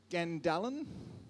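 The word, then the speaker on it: skandalon: The word is scandalon. Have I said it right? Scandalon. It's a Greek word and actually means part of a trap that bait is attached to.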